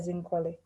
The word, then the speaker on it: Nkole: zambia thank you uh my name's uh you pronounce that zincoli yeah and i've been living with hiv for